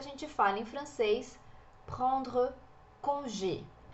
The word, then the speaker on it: congé: Aqui o congé, a gente tem o acento no E, então esse acento puxa a tônica da palavra para o final, congé, e é fechadinho, ao contrário do português.